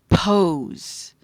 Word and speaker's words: pose: makes a p sound the long o silent E makes the o sound it's not an a it's an o sound and then the S